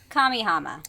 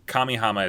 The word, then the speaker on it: Kamihama: it i keep saying it wrong every time kamihama kamihama city hey kamehameha i like kamehameha city better